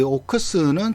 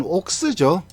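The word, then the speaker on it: Oaks: 이게 원래 이 오크스라는 게 정확하게 하면 옥스죠. 옥스인데 이걸 왜 자꾸 오크스라고 부르냐면 이 옥스의 일본식 발음이죠. 그러니까 아직까지 그때 일본에서 쓰던 그 발음 용어들이 그대로 남아 있어서 아직까지 오크스 그러는데 사실은 비슷한 거는 이 옥스가 비슷하죠.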